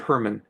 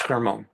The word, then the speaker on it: Hermon: Some people pronounce it Hermon, Hermon, but it's Hermon.